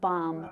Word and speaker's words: balm: was jasmine's pronunciation of balm we would say balm with a silent l so a lot like almond we say almond and